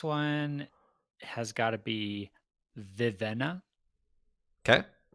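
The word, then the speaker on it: Vivenna: easiest one this one has got to be vivena okay vivena you are correct and paul would you like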